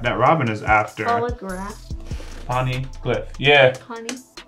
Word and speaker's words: Poneglyph: There ain't no graph in it. It's glyph. Glyph. Yeah, ain't no graph, it's glyph.